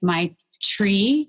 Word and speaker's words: maitri: And I like that it sounds like my tree, because the idea that I just picture like self-love being this really grounded and rooted and flourishing place, although it's spelled Maitri.